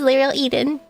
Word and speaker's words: Liel Eden: as Eden, but um I know a lot of people mispronounce every part of my name, and I've never actually said anything about it, but my name is Liel Eden.